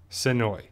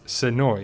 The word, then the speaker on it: Senoia: just so you know the town is pronounced Senoia there used to be this little shop and I think it's still there and it's Senoia and you can see the tourists transplant native and if you're a native you pronounce it as Senoia not similarly oh but